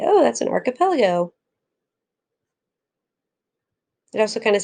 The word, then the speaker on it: archipelago: talk about is an archipelago it's not arch epeligo it's arc so make sure you're saying archipelago a large group of